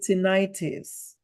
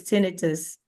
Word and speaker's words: tinnitus: to practice saying it when people call it ttis that's inflammation this is not inflammation so it's not the right pronunciation it's it's tenus tenus okay so the the question is can